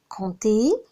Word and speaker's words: compter: Compter, on ne prononce pas le P.